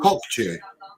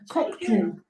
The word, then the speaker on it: Kokçu: Because Kokçu. I think the C is, Ju, Kokçu. Because the C is pronounced as a J in Turkish.